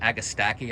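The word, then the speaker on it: agastache: um and agastash and agastaki I think it's you say is how it's pronounced it's a it's a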